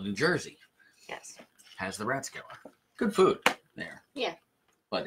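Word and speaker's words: Rathskeller: Oh, the Ratskeller. Yes. In Dunellen. Yeah, the Ratskeller. R-A-T-H. It's pronounced rat, not wrath.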